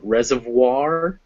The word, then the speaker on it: reservoir: french and english that if you ever see a french word that ends o i r it's pronounced war so those words at the end are reservoir and noir two o's